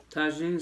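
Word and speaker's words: Tajín: Y'all gotta try the tagine sauce in your butter. It's spelled T-A-J-I-N.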